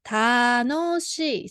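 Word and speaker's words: 楽しい: Then pronounce together. 楽しい So 楽しい is an e adjective because Japanese has 2 types of adjective, na adjective and e adjective.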